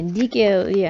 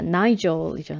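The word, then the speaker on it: Nigel: 음, 뭐 여러 이름들이 등장하고 그러는데 이제 이런 거 이제 니겔이 아니라 나이젤이죠. 나이젤이라고 하는 거고 그 다음에 네, 시의 형식인데요.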